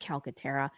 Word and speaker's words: Calcaterra: And people still ask me how to say it because I think people will try to over pronounce it. But it's like, it's just Calcaterra.